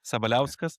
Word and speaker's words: Sabaliauskas: As we talked of recording, the last name is quite difficult to pronounce. It's Sabaliauskas, but Sabaliauskas.